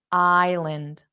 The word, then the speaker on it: island: the entire island island so we have I or just the letter I but if you want to think about it I Lind so l a n d if you were just to say that you would say land land but because that spelling is in a word and it's the unstressed sound it changes to Lind Lind so if you're